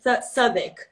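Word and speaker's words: Southwark: unpredictable you know so this place here is called SAP sub ik but it's written South Park but the pronunciation is sub ik sub ik so we're currently living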